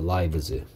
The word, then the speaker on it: lives: 그래서 라이프의 복수형이라서 얘는 아이의 발음이 아이 발음 난다. 라이브즈.